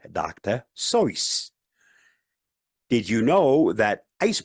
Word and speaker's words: Seuss: Seuss like his surname rhymes with goose, but he pronounced it like it rhymed with voice, like Dr. Seuss.